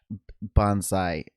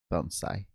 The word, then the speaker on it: bonsai: Bonsai is maybe more recognizable, but I am pretty certain it's supposed to be pronounced Bonsai or, you know, closer to that at least.